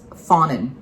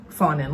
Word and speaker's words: Fonin: So she pronounced it Fonin. Fonin, like fawn, like a small deer.